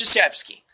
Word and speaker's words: Krzyzewski: You might not have realized that that's how his name is said because it's spelled Krzyzewski. It's Krzyzewski.